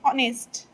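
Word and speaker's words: honest: जैसे एक वर्ड है ऑनेस्ट, पहली बात तो ये कि इसे हम ऑनेस्ट पढ़ते हैं, हॉनेस्ट नहीं पढ़ते हैं। इसमें एच जो है साइलेंट रहता है, क्योंकि अब हम इसे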